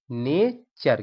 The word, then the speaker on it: nature: देखिए TURE को हम पढ़ते हैं चर, इसका उच्चारण हम चर में करते हैं। देखिए जैसे NATURE, देखिए यहाँ पर NA से क्या होता है, ने। TURE लगा है तो इसमें क्या पढ़ेंगे हम, चर। NATURE, नेचर, क्या पढ़ेंगे, नेचर।